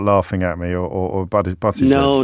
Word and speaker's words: Buttigieg: Could you say the name of that politician whose name I just completely butchered for me, just for future reference? Oh, Pete Buttigieg? Buttigieg, thank you. I think I called him Buttigieg, which is not not helpful at all.